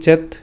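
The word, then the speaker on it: চেৎ: ঠিক আছে, খণ্ডতের উচ্চারণ কার মতো হবে? ত হসন্ত হবে। সেই উচ্চারণটা কেমন হচ্ছে? চেত।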